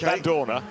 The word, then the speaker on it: Vandoorne: Every Belgian I talk to tells me you pronounce the E at the end in exactly the same way that you don't when you drink Lef. Right. So it's Vandoorne and Lef.